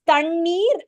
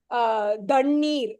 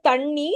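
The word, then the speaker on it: தண்ணீர்: But when we pronounce, we know it is Tannir and Dagam. We know, we don't say Dannir, right? Automatically, we say Tannir and Dagam.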